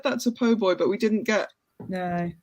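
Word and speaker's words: po' boy: think during that because it's obviously it's a PoBoy sandwich but Victoria very keen to pronounce it poor boy um uh which we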